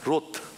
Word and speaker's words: 롯: 근데 아브라함의 그 조카이 그 루이랑 비슷한 롯 발음을 잘해야 돼요.